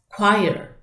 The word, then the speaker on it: choir: in the choir c h o iir is pronounced as choir it is a group of singing people but